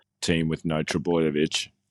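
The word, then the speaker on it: Trbojević: Oh, like there's 3 Trebojevic.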